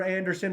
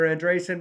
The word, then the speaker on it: Andresen: And I remember like, okay, next up will be Anderson. Of course, they pronounced my name wrong. It's Andresen, but whatever. For a rendition of Ba Ba Black Sheep.